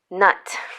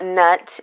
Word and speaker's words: Nut: preferences so we've got nut that's how you pronounce it this is not nut and she is a